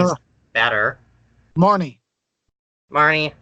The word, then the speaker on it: Marnie: her marina I think that name is better Marnie Marnie how do you spell it ma are and I am and she